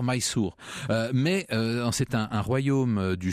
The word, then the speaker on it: Mysore: fait à leur misère c'est en fait la prononciation française d'une graphie anglaise il faudrait dire my sourd mais c'est un royaume